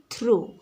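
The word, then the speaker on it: through: आसु नाही तो एठी जी एच हेउछि तुमरो silent letter. सेपरि थ्रो टी एच आर ओ यू थ्रो एतिकी रे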